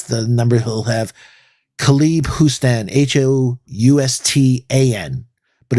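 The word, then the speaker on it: Houstan: that's the number he'll have khalib hustan h-o-u-s-t-a-n but it's pronounced like houston like the the city six nine can shoot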